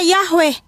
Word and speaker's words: Yahweh: Ini ada namanya huruf Paleo Ibrani Yod He Waw He, yang dibaca atau pelafalannya Yahweh, ya.